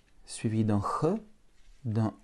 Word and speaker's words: Х: Il faut penser à un chat qui crache, qui n'est pas content. Ch. Ou alors pour être un peu plus sérieux, tu positionnes ta bouche comme si tu allais prononcer un K, que, et au lieu de bloquer l'air, tu laisses passer l'air.